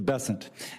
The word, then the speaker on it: Bessent: Cassidy um Mr bassant I'm always going to pronounce your name as if it was in south Louisiana and I'm gonna pronounce it with a French bon as opposed to bessent that's what those folks in South Carolina do um I'll try let